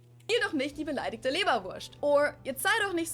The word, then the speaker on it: Leberwurst: You can either say Leberwurst, which would be the more standard pronunciation, or in Bavaria, we usually tend to say Leberwurst. So like, we just make it an sh sound instead of the s, Leberwurst.